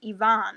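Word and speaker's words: Evaan: from a character named Yvonne. I think it would be pronounced Yvonne. It's E-V-A-A-N.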